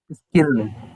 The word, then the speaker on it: squirrel: Squirrel.